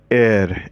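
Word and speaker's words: heir: s-t-u-n-t-e-d stunted checked undeveloped air h-e-i-r we pronounce it as air this means successor s-u-c-c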